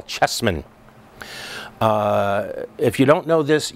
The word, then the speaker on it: Chessman: It's Carol Chessman, and it's spelled C-A-R-Y-L. Chessman, just the way it sounds, C-H-E-S-S-M-A-N, so look that up.